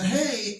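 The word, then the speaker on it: ה: Now, the Hey as a consonant has an H sound, ha.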